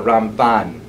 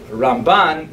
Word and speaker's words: Ramban: There's an N at the end of his name for Rabbi Moshe ben Nachman to distinguish him from Rabbi Moshe ben Maimon. It's not only the Ramban as opposed to the Rambam, the accent.